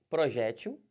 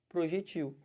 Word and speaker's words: projétil: qualquer um aqui ó projétil abala né a munição ou projectil os dois estão corretos um projétil ou projectil tanto faz mas se você falar projétil coloca acento aqui se você falar pro jeitinho não coloca sempre em lugar nenhum Tá